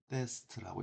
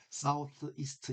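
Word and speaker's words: southeast: 그래서 south하고 east를 합해서 남동이 되는데 자, 이렇게 그러니까 사우스하고 이스트를 빠르게 붙여 읽게 되면 어떻게 읽게 되냐면은 사우데스트라고 읽습니다. 사우데스트. 사우스 이스트 이렇게 읽는 것이 아니라 사우데스트. 사우데스트 이렇게 읽어요. 자, 그러면은 아, 일단은 about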